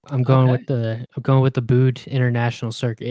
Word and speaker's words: Buddh: with the Bood International Circuit. It's Buddh. Apparently, it's pronounced Bood. I didn't know if it's Bood or Buddha, or how that went.